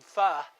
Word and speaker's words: pho: If you're familiar with the Vietnamese food pho, it's spelled P-H-O, but I named this one pho, rhymes with duh, so you'll know how to pronounce it.